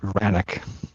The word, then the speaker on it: Vranany: I pronounce it Vranany, usually. Vranany.